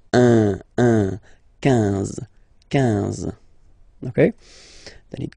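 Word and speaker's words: onze: So O plus N give you the sound on, 11, 11, okay? Final E doesn't exist phonetically, 11, okay?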